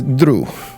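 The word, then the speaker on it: Druh: This is Drew, my friend. May I? Drew. It is not the normal spelling, but it's pronounced the same.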